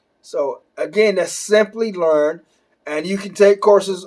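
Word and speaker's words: Simplilearn: to you is called Simply Learn, and it's not spelled how it sounds. It's spelled with an I and not a Y. So again, that's Simply Learn, and you can take courses on AWS and Azure.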